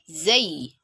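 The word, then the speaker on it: زاي: It is pronounced from the tongue. And then when you're pronouncing the Zay, the tongue gets slightly pressed up against the front tooth, with the upper and lower front tooth meeting together and making a buzzing sound.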